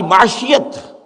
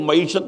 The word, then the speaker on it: معیشت: دین اسلام ہے، ہماری معاشیت سوشلزم ہے، وہ معیشت نہیں کہتے تھے، معاشیت کہتے تھے، صحیح تلفظ نہیں آتا تھا انہیں، اور ہماری سیاست جمہوریت